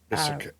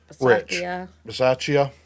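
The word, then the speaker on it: Bisaccia: Basakia. Basakia. Baceia. Baceia, I think is how you pronounce that.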